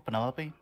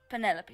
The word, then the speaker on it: Penelope: Is that short for Penelope? Officially, yes, but I never can be bothered with all four syllables of it. Penelope sounds a little ostentatious coming out of the mouth, don't you think?